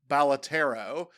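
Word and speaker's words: Balatro: I'm scared because I have learned that the proper way to pronounce the game is Balotero.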